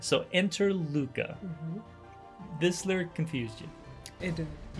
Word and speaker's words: LUCA: Now, of course, we pronounce it LUCA, but it's the last universal common ancestor.